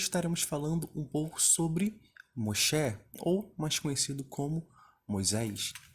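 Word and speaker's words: משה: Então, aqui de início, podemos ver que Moisés, em hebraico, se escreve e se lê Moshe, tá? Moshe.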